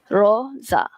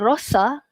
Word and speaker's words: rosa: Roza is pink. Okey, pink macam baju ni. Pink. Okey, Roza. Dia bukan rosa tapi Roza.